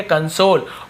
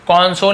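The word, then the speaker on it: console: जैसे रॉन्ग था W silent, वैसे यहाँ पे डब्ल्यू साइलेंट है, केवल होल। यहाँ पे पै, रोल, पैरोल। कन, इसे कन पढ़ेंगे, ठीक है, कंसोल। कॉन्सोल नहीं पढ़ेंगे, कंसोल, कंसोल ऐसे पढ़ना है।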